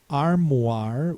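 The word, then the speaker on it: armoire: Then we have voila, memoirs, reservoir, noir, armoir with a silent e at the end.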